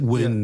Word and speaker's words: Nguyen: Alex Ochoa, and Nguyen, how do you pronounce it, Chris? This is Vietnamese name. N G N U Y E N. Nguyen is the closest, yeah. Nguyen, he's the he's the he's that's Grand Wizard